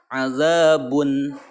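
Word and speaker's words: عذاب: Azabun bun. Nah, jadi bun terakhirnya adalah bunyinya bunyi n ya, bun. Bukan ang tapi an.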